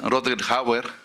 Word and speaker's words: Rutger Hauer: Es Rutger Hauer, así se pronuncia, él no es alemán, sino creo que holandés o algo así.